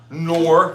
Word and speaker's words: Knorr: these are Knorr. The K is silent.